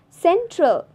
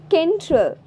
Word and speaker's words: central: It's central. Not kentral. Because there is E placed after C.